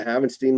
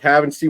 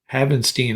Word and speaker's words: Havenstein: I used to say Havenstein, I think it was. Yeah. I remind myself it rhymes with Frankenstein, so you got to remember.